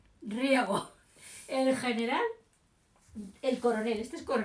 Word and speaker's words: Riego: Entonces, el primer pronunciamiento que triunfa es el de Riego, de regar. Riego. El general, el coronel, este es coronel, el coronel Riego. El coronel Riego.